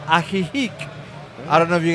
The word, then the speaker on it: Ajijic: It's called Ajijic.